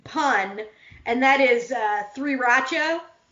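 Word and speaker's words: 3RACHA: and that is uh three rachel oh yeah a play on the word sriracha because there's there you know rats are fire and there's three of them i just think that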